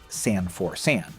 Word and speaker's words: San4San: name right on, because it's easy to mishear. It's spelled S-A-N, the number 4, then S-A-N, San for San.